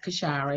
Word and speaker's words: Kashira: Long eye, Kashira, is fine.